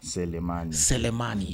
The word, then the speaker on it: Selemani: So, is the name is pronounced like how? Selemani.